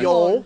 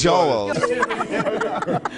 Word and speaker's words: Joel: Pronounce his name incorrectly. Sorry, yes. Joel. Yo. No, it's Joel. Yo.